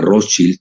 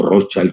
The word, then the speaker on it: Rothschild: de la banca Rothschild, o Rothschild, como lo quieran pronunciar, si lo pronuncian en alemán o en inglés estadounidense, porque los británicos lo pronuncian diferente, pues él fue empleado de la banca Rothschild. Entonces, yo lo digo a la alemana, más que a la estadounidense, que saben ustedes, se